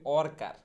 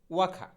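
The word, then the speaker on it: worker: এরপরে শ্রমিক, আমরা অধিকাংশ মানুষ এটাকে বলি ওয়ার্কার, ওয়ার্কার। হ্যাঁ, যদি ওয়ার্কার বলি সম্পূর্ণ ভুল বলতেছি, শুদ্ধ উচ্চারণটা হবে হচ্ছে ওয়াখা, ওয়াখা। হ্যাঁ, ওয়ার্কার না, ওয়াখা।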